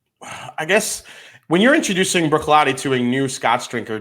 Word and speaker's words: Bruichladdich: Eric Waite says the second D in Bruichladdich is silent. Bruichladdich.